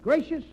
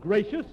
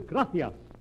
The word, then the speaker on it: gracias: Muchas gracias, amigo? No, no, no, not gracious. That word is gracias. You see, in Spanish the C is pronounced th.